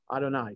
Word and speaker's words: Adonai: okay anytime we see you'd have a it's pronounced adonai sometimes it's written out as a double you'd